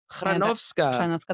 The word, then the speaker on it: Chrzanowska: Shanovska, that's how you pronounce it.